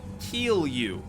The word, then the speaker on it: kilju: But it is actually pronounced kilju, which is kind of funny.